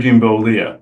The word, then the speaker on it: Bollea: The real name is, let's see, Terry how did I pronounce that? Jean Balea. Terry Jean Bollea.